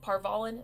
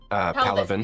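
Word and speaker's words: Palaven: Is it Parvalin? Is that how you pronounce it? Palavin. Paladin. Parvalin is Dragon Age.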